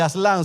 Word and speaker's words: Aslan: él refiriéndose al regreso de aslan o de aslan si usted le pone el acento en su gran intervención y